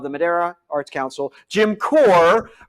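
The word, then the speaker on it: Kocher: Ladies and gentlemen, interim director of the Madera Arts Council, Jim Core, but it's not spelled Core. No. It's spelled K-O-C-H-E-R, but pronounced Core.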